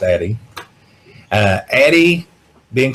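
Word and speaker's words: Addyi: from The Authority which is myself it is pronounced Addie uh Addie being called the female Viagra um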